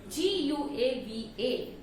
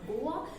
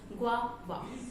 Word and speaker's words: guava: But if you see the spelling, it is G-U-A-V-A. So the pronunciation of this word is not Goa. The correct pronunciation of this word is guava. I repeat, it's not Goa, it's guava.